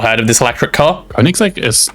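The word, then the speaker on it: Koenigsegg: Koigseg is not Oh, Koenix is how that's how you pronounce that.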